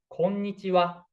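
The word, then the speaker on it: こんにちは: So if you want to settle in Japan, we hear like konnichiwa from local international traveler, like konnichiwa, hello, konnichiwa, konnichiwa. But correct one is konnichiwa, konnichiwa. This is important.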